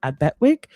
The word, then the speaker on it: Epekwitk: So before that, it was called Abetwick, which is spelled Epekwitk.